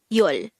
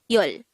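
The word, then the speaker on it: 열: Its native Korean version is yol. This is just composed of one syllable, which is yol.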